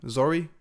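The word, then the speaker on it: Zorii: in was Zuri bliss so you pronounce her name Zoe Zoe bliss I like the fact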